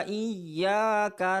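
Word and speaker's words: إِيَّاكَ: Kemudian, ' kaf' ini tidak boleh dipanjangkan. Kita sering mendengar 'iyaka na...'. Jika 'ka' diucapkan panjang, itu salah. Cara yang benar adalah 'Iyyaka na'budu wa iyyaka nasta'in'. 'Ka' pertama dan 'ka' kedua sama-sama pendek.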